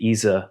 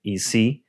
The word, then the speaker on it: Ise: I notice when you pronounce, I say Ise, that's how we say that, and you're saying Ise.